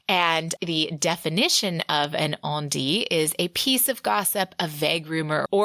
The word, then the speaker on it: on-dit: things I've been reading obviously on D was not pronounced on dit uh like I thought it was so I reached out